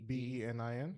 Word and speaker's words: Benin: Benin oh okay that'd be it maybe yeah b-e-n-i-n yeah yeah I think that's I think it's pronounced Benin yeah sounds sounds about right yeah